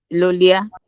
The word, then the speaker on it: Lolia: Are you still speaking to me like Lolia? Yes, I'm speaking to you Lolia. Can you help me pronounce that first name? The first name? Okay. Okay. My phone my the pronunciation is lolia.